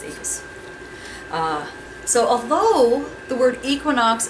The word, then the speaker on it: equus: And I think I actually pronounced the one part wrong. No, I didn't. I lied. It's equus. It's equus.